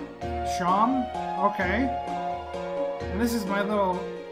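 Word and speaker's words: Seam: thank you okay talk about yourself named Seema pronouncing Shawn okay this is my little shop oh okay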